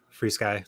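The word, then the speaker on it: FrSky: you say that uh it literally is fr Sky free Sky they're just one of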